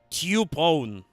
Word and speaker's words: Typhon: Actually, I think technically, if I'm reading the robot and Sheila right, in Japanese you pronounce this Tyupon.